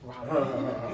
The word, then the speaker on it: Raleigh: Yes, Raleigh, Durham. Raleigh.